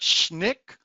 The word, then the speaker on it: SNCC: The recently formed Student Nonviolent Coordinating Committee, SNCC, pronounced SNCC, sent white and black passengers on multiple freedom rides from Washington, D.C.